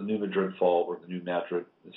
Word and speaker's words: New Madrid: got problems the New Madrid fall or the New Madrid is how we pronounce the year um that is connected to